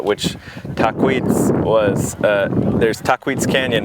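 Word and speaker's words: Tahquitz: is ttz ttz which if you wanted to go with the Native American pronunciation is taquitz uh which taquitz was uh there's taquitz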